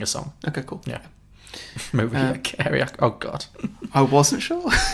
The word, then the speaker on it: Mariah Carey: Did you just pronounce her Maria Carey? I did, yes. Oh, come on. I was very 50-50 on it. I didn't know. It's Mariah Carey.